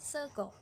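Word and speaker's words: sega: Contoh, kita ngomong sego, tulisannya pakai A, tapi kita bilangnya sego, pakai O.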